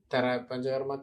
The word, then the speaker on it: Panchakarma: How do you pronounce it? Is it Panjar? Pancha. Pancha means 5. Pancha in Sanskrit, Pancha means 5. Karma means actions. Panchakarma therapy.